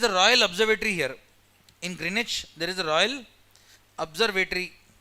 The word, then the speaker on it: Greenwich: It's pronounced as Greenwich. W silent. It's not Greenwich. It is Greenwich.